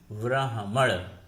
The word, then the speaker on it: ब्राह्मण: जैसे हम उच्चारण करते हैं ब्राह्मण, ब्राह्मण में ह पहले आता है जो शुद्ध रूप है, ब्राह्मण नहीं लिख सकते।